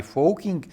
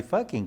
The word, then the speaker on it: Fockink: E até com o meu sobrenome é muito importante usar a pronúncia holandesa, bem chamada Fokkin, e não usar a pronúncia inglesa, que ficaria Fucking, né?